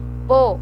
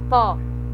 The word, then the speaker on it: pô: Pô e lê, ele é fechado, ele não é lé e nem pó.